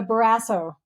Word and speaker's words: Barrasso: Well, I saw your rebuttal video to I'm going to say his name wrong. I keep wanting to say Bolsonaro. Close. No, but it's a Barrasso.